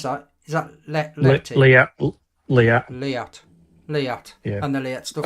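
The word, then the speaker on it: Leatt: And how do you pronounce that? Is that Liat? Liat.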